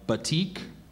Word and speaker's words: batik: word that went from javanes to melee alternate pronunciations uh so I have uh batik B and bati batik b a t i